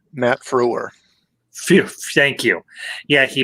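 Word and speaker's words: Frewer: fo what was his last name how he pronounced his last name matt froore phew thank you yeah he played max hadron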